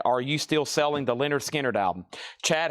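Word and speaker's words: Lynyrd Skynyrd: This is a brand new sealed copy of pronounced Leonard Skard.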